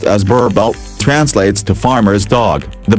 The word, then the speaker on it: Boerboel: Whereas in the Afrikaans language, the name Boerboel, pronounced as Boerboel, translates to farmer's dog.